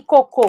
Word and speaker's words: cocô: exemplo que eu adoro Como você sabe que a diferença de côco e cocô E como que você vai pedir um coco na praia e não cocô o seu assento né E também é a sílaba tônica né então você vai